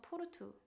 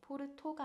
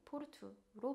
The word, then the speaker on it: Porto: 예를 들어서 포르투 포르투도 끝에 오가 오기 때문에 포르토가 아닌 포르투로 발음을 하고 있습니다.